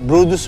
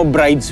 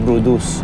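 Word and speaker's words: Bryde's: yun yung blue whale brus whale or pag binasa mo brid whale siya no pero ang pronunciation brus yung umur whale at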